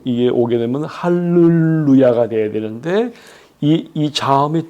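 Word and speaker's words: הַלְלוּיָהּ: 앞에 어 이게 단모음이 중 이게 오게 되면 할렐루야가 돼야 되는데이이 자음이 두 개가 같이 왔기 때문에 그 법칙이 깨어지는 거예요 그래서 앞에 묵음이 아니라이 유성으로 할렐루야로 발음을 해야 되는 거예요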